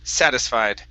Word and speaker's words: satisfied: have the word satisfied stress at the very beginning satisfied satisfied good um and